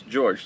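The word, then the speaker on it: Georges: So it sound it looks like George is to us but in French it's still pronounced as George.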